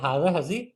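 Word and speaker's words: هذه: এখানে একটা জিনিস খেয়াল করার ব্যাপার, সেটা হচ্ছে উচ্চারণটা আমাদের হাজা আমি যেরকম বলছি হাজিহি, কিন্তু লেখার সময় আমাদের এখানে যে আলিফটা যেটা দেওয়া হয় না, খাড়া জবর আমরা দিতে পারি।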